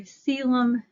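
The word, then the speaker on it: coelom: body um so our seum I know it doesn't look like that's how exactly it's pronounced that internal body cavity is called the seum um and it can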